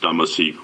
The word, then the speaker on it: Dumesny: MR DUMESNY: It's pronounced Dumesny.